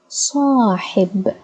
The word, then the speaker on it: صاحب: Ha, as you can see, has kasra below, so it would be pronounced as He. Okay, so we have Sa, Hi, B. صاحب صاحب صاحب صاحب. Okay, صاحب, and it's a noun, so we add no vowels to the last letter.